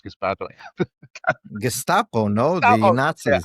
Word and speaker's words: Gestapo: It's caused by the completely irresponsible, hyperbolic language of democratic politicians who've called ICE Gespato and stuff. Gespato. How do you pronounce Gespato? Gestapo, no, the Oh, yeah, Nazis.